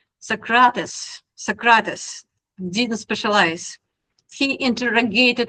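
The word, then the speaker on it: Socrates: My pronunciation might sucks but I'm trying. I have a heavy accent. Socratus.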